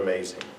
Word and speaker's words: amazing: What is the stressed syllable in the word amazing? May.